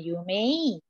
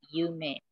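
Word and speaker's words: 有名: Begitu juga dengan Yume atau terkenal, famous, dia tidak masuk di kata sifat i karena begitu diucapkan, dilafalkan dia bukan Yume, melainkan Yume.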